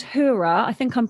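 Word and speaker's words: Heura: vegan chicken and it's by a brand called hura i think i'm pronouncing that right it's spelt h-e-u-r-a and they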